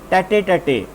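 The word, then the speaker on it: tête-à-tête: Okay, come to the question number 9 that is एक छोटा सा इडियम है स्टूडेंट्स, इट्स प्रोनाउंसिएशन इज टैटे टैटे।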